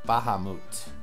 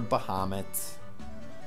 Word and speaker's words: Bahamut: Fantasy game that's right Bahamut or Bahamut or bomit or however you want to pronounce it looks pretty awesome well